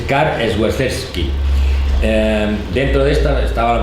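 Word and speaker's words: Karol Świerczewski: Su verdadero nombre, pero ahora la pronunciación porque es en polaco, es Karl Swerczewski.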